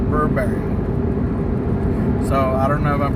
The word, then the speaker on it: Burberry: to see Birkbeck robbery I always pronounced that we're Barry but then that person was pronouncing it Burberry so I don't know